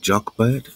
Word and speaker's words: Jochebed: Jochebed? Jochebed? Jochebed, J-O-C-H-E-B-E-B. E-D, which they say in Hebrew is like a Y-O, Yav Kevet, or something like that.